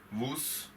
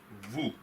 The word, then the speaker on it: vous: you earlier as well consonants are usually silent in French so I am not reading it as nose moose I'm reading it as nous vous LLL the pronunciation is